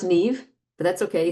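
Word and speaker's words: Niamh: Neon. Is that your name? Neam. It's pronounced Neve, but that's okay. It's an Irish name. So Neve like Steve.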